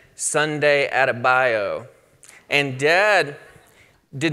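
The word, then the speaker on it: bayou: watch the game but in the Delta we pronounced the word by you bio and so this name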